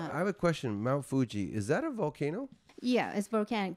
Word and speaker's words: Fuji: pronounce it mount fuji fuji okay so that's how the japanese pronounce it okay do you know